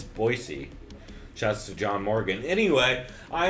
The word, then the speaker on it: Boise: I even of that learn to pronounce Boise correctly it's not Boise y'all it's Boise just John Morgan anyway